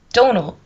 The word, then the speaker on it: Domhnall: Domhnall. It's pronounced Domhnall.